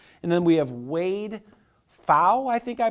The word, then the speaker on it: Pfau: And then we have Wade Pfau, I think I pronounced his name, P-F-A-U.